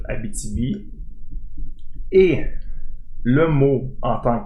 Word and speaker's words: Abitibi: Donc on voit qu'il y a une certaine transfiguration au niveau de l'expression et de la prononciation qui nous fait que maintenant, du moins au Québec, on le prononce Abitibi.